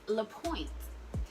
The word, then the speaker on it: LaPointe: Next up, we have pronounced lapointe, and lapointe is doing its thing this season.